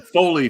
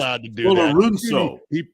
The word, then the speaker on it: Folorunso: But he prefers Folorunso. Okay. This is an interesting kid. He's from Nigeria, folks, and he grew up in New York City and likes the full pronunciation of his first name.